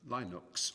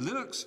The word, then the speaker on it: Linux: his name um linus it was known as linox or linux as some people pronounce it and linux is the kernel that